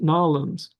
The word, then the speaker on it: New Orleans: It's like if you're in the United States and you've ever heard anybody from Massachusetts or from New Orleans. A friend of mine was born there, raised there. It's Nolans.